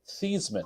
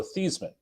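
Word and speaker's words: Theismann: a question for you how do you pronounce your name and Joe Theisman actually said we pronounced it these men for the longest time it's Joe theseman Roger says no it's not it's Theisman and they have a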